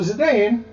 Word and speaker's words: Zidane: So Zidane, I'm going to call him Zidane from here on, not Zidane.